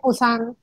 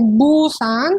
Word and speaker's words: Busan: Pero el hay es el de Busan. Pues el para que Bus. Sepan también, se escribe con B en la romanización, pero no se dice Busan, sino es con P, Busan.